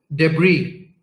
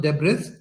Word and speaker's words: debris: तो वहाँ के उसके अतराफ, all around it, there was a lot of debris. This is not pronounced debris, it is pronounced debris, which means malba, right?